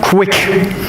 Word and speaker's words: QUIC: the quick means right quick is the quick UDP internet connection pronounced quick it is an experimental